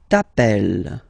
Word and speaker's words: t'appelles: Alright, second form, tu t'appelles. Okay, remember, final S not pronounced.